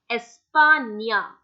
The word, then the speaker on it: España: Talking about another very commonly used word, that's España.